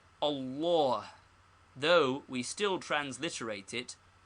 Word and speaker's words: Allah: how is Allah pronounced the middle feta is very Broad and is pronounced like all in awful and this reacts upon the first fat cat also so we must practice saying Allah though we still transliterate